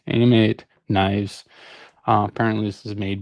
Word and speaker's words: Ameight: From my understanding, people are pronouncing it like I thought it was like right from the gut, Amrite, but Ameight is what people are saying. Ameight knives.